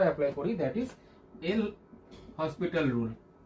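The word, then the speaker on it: L'Hôpital: করি that is এল হসপিটাল rule এটাকে লীটালস রুলও বলা হয় ঠিক আছে উচ্চারণটা এটাই লীটালস তো এই রুল অনুযায়ী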